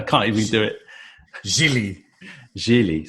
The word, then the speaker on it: Gigli: Jeally, spelled like really, but with a G.